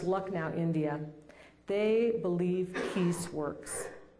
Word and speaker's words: Lucknow: There's a school in India, the City Montessori School in, I believe it's pronounced Lucknow, India.